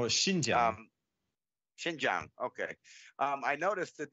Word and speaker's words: Xinjiang: So you were talking about the Xinjiang, is that how you say it? The Xinjiang? Oh, Xinjiang.